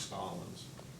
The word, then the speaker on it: Stalins: questions just a couple would you say your last name stalins stalins I want to make sure I pronounce it correctly I've seen I say stalins Mr stalins is ow